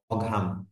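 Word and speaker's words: Maugham: না অনেক সময় স্পেলিং এর মধ্যে আসে নামের বানানটা এভাবে মনে রাখবেন মহাম এম A Yuji H এম এম A Yuji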